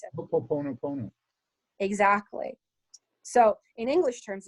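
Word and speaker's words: Hoʻoponopono: How do you pronounce it? Ho'oponopono.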